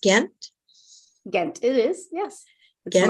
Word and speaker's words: Gent: are in Belgium yes I am is it pronounced gent again it is yes okay my hometown yeah